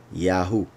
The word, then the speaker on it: יהו: be very clear that these three are pronounced Yahu, Yahu. That's why when you look in a concordance, you will see that the name of Isaiah was Yeshayahu.